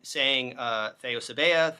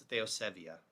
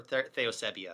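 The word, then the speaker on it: θεοσέβεια: So you may, you will hear people online saying theosebea. They're stressing the ea at the end. That's not correct. It's theosevia, right? Theosebea, or theosebia, if you really want to pronounce the vita as a b.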